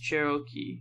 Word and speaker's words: Cherokee: Cherokee is pronounced Cherokee.